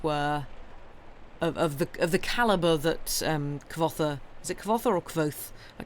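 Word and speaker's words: Kvothe: It's like, say it like quoth, which I assume to mean as in rhymes with quoth, rather than literally say quoth. Oh, okay. I think I've heard him say like quoth. Kvoth.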